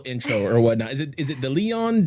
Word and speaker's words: Deleon: Is it Deleon? Deleon. Deleon. Gotcha. Deleon. Gotcha. Deleon. Just go ahead and at least write down the pronunciation right there.